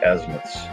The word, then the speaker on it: azimuths: That word is pronounced azimuths.